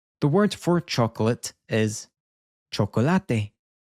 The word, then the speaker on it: chocolate: The word for chocolate is chocolate. So it has the same spelling as in English. We're changing our pronunciation when saying it in Spanish.